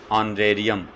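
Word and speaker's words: honorarium: कुछ silent words दे रहा हूँ जिनमें H साइलेंट होता है, देखिए एन ऑनर, इसकी प्रोनाउंसिएशन क्या होगी, ऑनर। एन ऑनरेबल, एन ऑनरेरी, एन ऑनरेरियम, an year, इसको हियर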